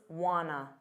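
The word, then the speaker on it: wanna: what you know what and want to becomes Wana Wana now I wanted you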